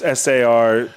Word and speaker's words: Sarzedas: Sarzatus. Is that what we said last week? That's how it's spelled. It's Sarzedas. Yeah.